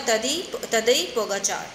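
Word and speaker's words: Tadej Pogačar: हम तदेज ही पढ़ेंगे, लेकिन इसका प्रोनाउंसिएशन क्या है, ये जे का जो प्रोनाउंसिएशन है ये आपका आ जाएगा आई की साउंड में, और यहाँ पे पोगा के बाद कार का जो प्रोनाउंसिएशन है इसको हम कार नहीं पढ़ेंगे, फ्रेंच उसमें, या जो इनका नेम होता है फ्रेंच पीपल के उसमें हम पढ़ते हैं पोगाचार. तो इसका प्रोनाउंस होगा तदई पोगाचार.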